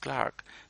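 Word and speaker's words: clerk: Earlier borrowings were made through the medium of Latin and French, as anthem, Clark, and it is spelled C-L-E-R-K, but it's pronounced Clark, dish, blame, frenzy, ink.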